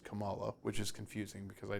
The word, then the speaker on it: Kamala: you do good in Miss Marvel it is pronounced Kamala which is confusing because I don't believe that's